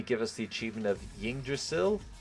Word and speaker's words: Yggdrasil: us the achievement of Yggdrasil? Or Yggdrasil? How am I pronouncing this? Biomes aplenty. Here we go. Yggdrasil. Yeah, I've said that right.